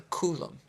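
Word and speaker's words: coulomb: is a kolum and it's spelled c u l m b a coolum okay so one electron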